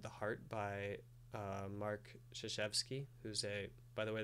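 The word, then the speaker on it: Krzyzewski: heart by uh mark zuchevski who's a by the way that's spelled c-r-z-y-z-e-w-s-k-i even though it's pronounced totally differently the basketball coach at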